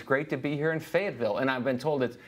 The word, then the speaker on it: Fayetteville: So we've been traveling, promoting the album, and it's great to be here in Fayetteville.